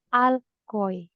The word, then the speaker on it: Allgäu: Herr Saifullah, bitte sprechen Sie nach Allgäu. Allgäu. Goi. Goi. Goi. Goi. Ja, richtig. Goy, Ini danke. goy. Jadi kalau ada A umlaut dengan U bacanya OI.